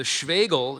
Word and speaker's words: Schwegel: The Schwegel is an important part of traditional Bavarian folk music, usually played alongside the tabor drum.